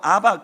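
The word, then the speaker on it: abba: 아람어로 아빠가 우리말로 아바, 거의 유사한 발음이에요.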